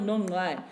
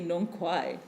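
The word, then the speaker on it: Nongqai: and you say, oh, the journal Nongai, people look at you strangely and go, what is that? You have to say Nonkwai, because that's what it was, that's the pronunciation that people use.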